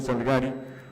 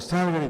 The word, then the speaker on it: Salgari: cuentos de Emilio Salgari, o Salgari, como dicen que se dice, pero nadie nos va a convencer de que no se dice Emilio Salgari, ¿no? Aunque se diga Salgari, pues nosotros siempre diremos Salgari.